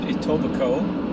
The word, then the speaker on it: Etobicoke: in a the west part of toronto called etobicoke it's spelled it topokoc and it is uh basically